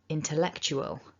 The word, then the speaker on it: intellectual: word is remembering that english as a language has lots of this weak schwa and therefore you need to keep it weak don't over pronounce those